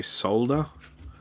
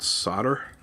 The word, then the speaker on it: solder: Oh, I should mention that I'm from Australia, so we say solder, not solder. Both ways of pronouncing it are correct. If you have a look at the history of the word, both are perfectly acceptable.